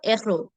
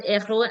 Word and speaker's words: héros: Now, um, the alphabet F can sometimes block the liaison, but it's still silent. For example, l'héros, le héros, le héros, or la an, but it will still be silent.